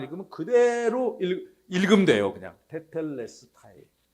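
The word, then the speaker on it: τετέλεσται: 테텔레스타이. 네, 저거 발음 기호만 알면은 발음하기 무지하게 쉬워요, 저거. 네, 발음 기호를 우리가 모르니까 어떻게 소리내지 하는데 발음 기호만 읽으면 그대로 읽으면 돼요, 그냥. 테텔레스타이.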